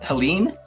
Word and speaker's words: Heléne: Your name's pronounced Heléne, is that right? Okay, good. Awesome. And fun fact, which is the weirdest thing in the world, only Americans are able to pronounce it correctly the first time. That's funny. I think you might learn at school, you might learn how to pronounce the E with that accent on it.